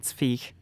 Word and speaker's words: Zweig: Called Beware of Pity by Stefan, I'm going to pronounce this the German way, Zweig.